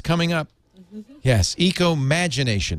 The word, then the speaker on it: ecomagination: it's coming up yes ecomagination no I I'm sorry I said it wrong yes I have my